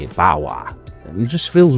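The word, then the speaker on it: Barrois: Like, the Marc Antoine Bauer is that how you say it? Bauer.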